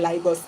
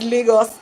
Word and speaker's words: Lagos: way to pronounce it so people say lios it's not really lios it's Lagos but I'm not in